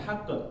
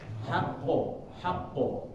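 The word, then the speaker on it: حق: Nah, jangan haqq tapi haqqo karena dia karakternya bulat tebal, jadi jangan sampai membacanya itu vokalnya ke e.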